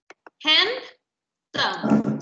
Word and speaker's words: handsome: Esta de aquí, ¿cuántas sílabas tiene? Dos. Very good. Handsome, ¿sí? En inglés, las sílabas se separan por cómo suena. En español es como se escribe, en inglés es como suena. ¿Sí? Entonces, handsome, porque la E al final de la palabra siempre es muda.